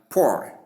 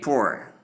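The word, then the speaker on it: poor: Then the pronunciations are in two also. Two. We have pour and pour. Transcribed as the first one, per sound and long O sound.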